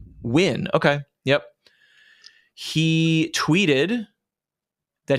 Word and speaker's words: Nguyen: How do you pronounce that last name? Nguyen.